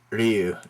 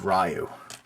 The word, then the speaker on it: Ryu: you uh think of him as now being Ryu instead of rayu okay and okay one more this is pronounced hiachi hiachi it's not hiachi okay I